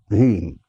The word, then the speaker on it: Hrim: The Bijakshara, the seed sound is Hrim. If you write in English, H-R-E-E-M. H-R-E-E-M. Hrim.